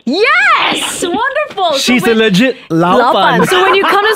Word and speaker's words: 老板: How you say boss here in Singapore is 老板. 老板. Yeah, very close. One more time. 老板. 老板. Yes! Wonderful. She's a legit 老板.